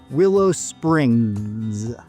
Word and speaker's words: Willow Springs: know about and that's Willow Springs I say that because you'll hear it pronounced both with and without that final s and different people have